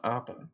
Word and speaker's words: Appa: Technically, it is pronounced Appa, if you've ever watched the show.